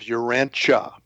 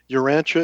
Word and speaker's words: Urantia: Um, we use the uh the pronunciation of Urancha. So, it's Uranchia Uranche book and um Urancha is purported to be the name of our planet.